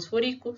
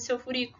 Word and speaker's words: sulfúrico: moro mais rico bórico tem gente que a hora que vai adicionar o ico né não sabe onde está a sílaba tônica então acaba falando boiko carbônico nítrico ou sulfúrico sulfúrico e clorídrico não tem nada de seu furico tá chama o ácido